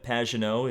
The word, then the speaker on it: Pagenaud: Obviously, the number 1 using the classic Penske font and Simon Pagenaud, if you want to use his proper French pronunciation.